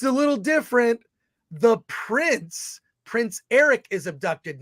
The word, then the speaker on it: Airk: His name is Eric, but it's spelled AIRK.